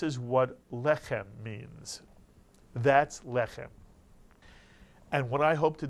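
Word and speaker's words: לחם: you whenever you see or hear the word lechem.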